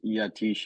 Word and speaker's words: Yatish: Um yes, my name is Yatish. It's it's pronounced just like how you see it on paper.